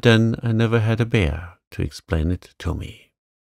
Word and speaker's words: Bhaer: It isn't pronounced either bear or beer, as people will say it, but something between the two, and only Germans can give it.